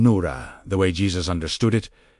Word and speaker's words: Nura: This is why the word Nura, pronounced Nora, meant something entirely different from a beam observed from far away.